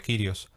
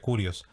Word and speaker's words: Kyrios: pronunciar en castellano sería Kyrios, si lo vamos a decir utilizando la fonética en griego sería Kyrios.